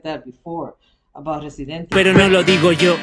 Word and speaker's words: Residente: so you and you and in Spanish every syllable you pronounce it. So Residente, resident. It's the same way of spelling, except for the E.